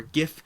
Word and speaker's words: GIF: you can see over here a great little Jif or gif in terms of a I saw cute Kong from below it's pronounced jiff but typing it out whatever the double airport